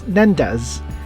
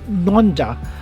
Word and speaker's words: Nendaz: videos pronouncing it as nandas that is the english way of pronouncing it to the letter it is still correct however the precise way to say it in swiss french is nonda as opposed to my